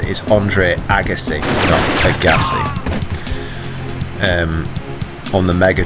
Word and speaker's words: Andre Agassi: the Andre Agassi as I've now confirmed it's pronounced is Andre Agassi Agassi and on the Mega Drive and I'm